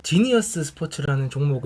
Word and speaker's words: GENI: 보시는 바와 같이 종목 코드는 GENI 이며 , " 지니 " 라고 발음 하시면 됩니다 .